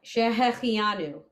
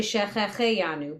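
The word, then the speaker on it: שהחיינו: And it's funny, I say Shehechianu, but it's actually Shechecheyanu, but it sounds weird, so it's what we learned growing up.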